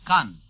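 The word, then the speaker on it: Caen: this second beachhead is 40 miles northwest of khan khan by the way is spelled c-a-e-n it is near isinhi on your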